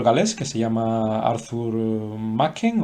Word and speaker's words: Machen: es un escritor galés que se llama Arthur Machen o Machen, en inglés se pronuncia Machen, pero si el apellido es galés, pues posiblemente se pronunciaría Machen.